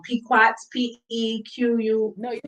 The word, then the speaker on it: Pequot: I might be saying their name wrong. Pequots, Pequ.